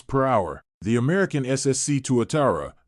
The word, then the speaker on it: Tuatara: hour the American SSC Tuatara pronounced two Atari in case you're having trouble pronouncing its name takes the second spot